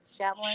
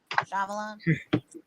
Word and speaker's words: Shyamalan: Shymalman. Never listen to Dave. It's Shymalman. Shyamalan. M. Night Shyamalan.